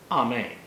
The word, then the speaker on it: amen: day in rabbinical school the jewish pronunciation is roughly amen it is not a woman now i have to